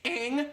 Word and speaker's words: Aang: It's Aang, not Ong.